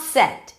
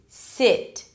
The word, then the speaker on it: sit: So a lot of people may say something like set, but it's not set, it's sit, kid, rich, right?